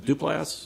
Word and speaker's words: Duplass: How do you pronounce his name right? Duplass.